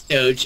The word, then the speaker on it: Doge: Is Doge how you pronounce it, or is it Doggy, or... It's Doge.